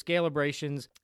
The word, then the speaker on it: Scalebrations: So with that said, we are with Jim Seymour and his business, Scalebrations. Did I pronounce that right?